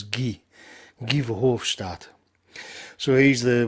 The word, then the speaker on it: Guy: in kevin hofstadt's tweet i know his name looks like guy but it's actually in the flemish pronunciation is ghee give hofstadt so he's